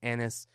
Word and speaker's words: Anas: So joining me today is Anis.